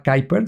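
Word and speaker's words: Kuiper: En el caso de Blue Origin de Jeffos se llamaba Kyer. Se escribe quiiper con K, eh, y ahora le llaman Leo.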